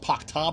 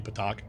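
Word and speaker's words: petaQ: I've never heard it pronounced Pakta before. It's supposed to be Patak.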